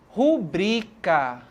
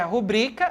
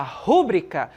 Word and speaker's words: rubrica: quando a gente fala rubrica perceba que a sílaba mais forte é o ru certo quando a gente fala rubrica a sílaba mais forte está no bri Ok e de acordo com